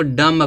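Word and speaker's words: dumb: देखो डम वोलो उसको डम पढ़ देते हैं तोब देखो यम के बाद बी बी क्या होना चाहिए साइलेंट क्या पढ़ा जाएगा डम डम पढ़ेंगे इसको डम माने गूंगा होता इसी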